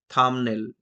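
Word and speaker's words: thumbnail: ঠিক একই রকম ভাবে কুম, থাম, থামনেল, যা চর্চিত বিষয় আমাদের ইউটিউবে, আমরা থামনেল শব্দটা ইউজ করি। তো এই ক্ষেত্রেও বি এর উচ্চারণটা সাইলেন্ট থাকে, থামনেল।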